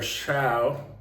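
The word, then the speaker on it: Shough: It's in their second year with Tyler Shaw, or Shug, he says now. He wants his name pronounced Shug, I think.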